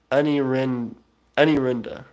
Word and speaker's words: Anurandia: of my scholars provinces anurandia very cool pronounced aniren anirenda very cool globular jenkins says